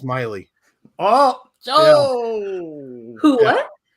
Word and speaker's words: Maile: And hey, that's when you're supposed to stand up and say, "You're Tim Maile. Bring it on." It's actually pronounced Miley. Oh. Who? What? It's Miley, like Miley Cyrus.